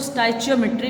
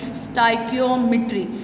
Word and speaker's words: stoichiometry: कोई इसको स्टचियोमेट्री बोलता है, कोई इसको स्टाइकियोमेट्री बोलता है। ठीक है? लेकिन आज के बाद आपने इसकी असल वाली जो प्रोनाउंसिएशन है वो है जी स्टाइकियोमेट्री।